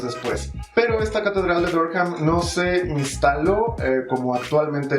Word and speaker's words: Durham: Saying it wrong. It's Durham, not Durham.